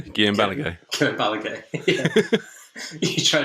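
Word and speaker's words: Balagué: Guillem Balagay.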